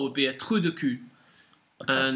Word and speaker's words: cul: And then we have the French word for arse, which is spelt C-U-L, which is pronounced cul. Cool. If you notice, there's slightly less stress on the L at the end, so it's cul.